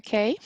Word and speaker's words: Kay: you thank thank you k um okay very I couldn't remember how you asked me to pronounce it is K correct okay yeah yeah now